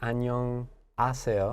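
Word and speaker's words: 안녕하세요: it right the pronunciation even though we have our H consonant the pronunciation almost sounds like annyeong a sail and yeah oh yeah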